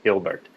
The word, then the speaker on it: Hilbert: Hilbert, spelled like Gilbert. Hilbert, pronounced like Gilbert.